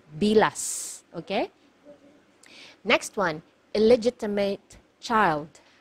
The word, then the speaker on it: bilas: careful with this one you have to pronounce the letter S at the end because if you mispronounce it nearer to letter T it is actually it actually means the private part of a woman okay so make sure you pronounce the letter s it should be bilas okay next one illegitimate